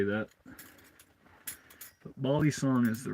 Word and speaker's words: balisong: F knife for Bal song proper name is Bal song butterfly knife I guess it's the American term for it um but everyone who's into him calls him Bal songs or bisong bisong is the incorrect way to pronounced it but